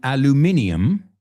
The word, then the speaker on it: aluminium: De hecho los británicos dicen aluminium y nosotros decimos aluminum.